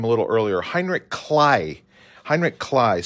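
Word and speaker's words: Heinrich Kley: spoke about him a little earlier Heinrich clay Heinrich Clyde spelled like clay and for many years I called him Heinrich clay um but clay would be how we pronounce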